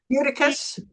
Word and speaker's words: Eutychus: Eutychus.